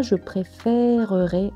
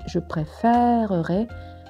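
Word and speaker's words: préfèrerais: e », mais « je préférerais », on entend bien le « e » ouvert, et donc l'accent grave se justifie, et on entend ainsi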